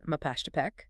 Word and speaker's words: Mapachtepec: mountain to pedal, glyph would know to pronounce it Mapashtepec.